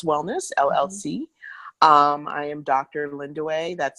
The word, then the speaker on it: Lindiwe: Linda way that spelled Li in D ìwe but it's pronounced Linda way for those of you